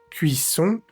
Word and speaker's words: cuisson: La cuisson, cuisson, cuisson. Vemos nuevamente la vocal nasal ON, que se pronuncia igual que la OM. No vamos a decir la O separada de la N, no es cuisson, sino cuisson.